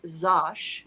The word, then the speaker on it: Zash: also see me as zash uh that's spelled like Josh with an x uh it started